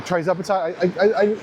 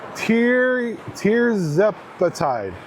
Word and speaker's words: tirzepatide: And I'm on a trizepatide. I never know if I'm saying that right. Trizepatide. Let me look. 1 second. It's tirzepatide.